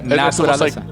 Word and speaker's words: naturaleza: Naturaleza. It's almost like naturalized, like naturaleza.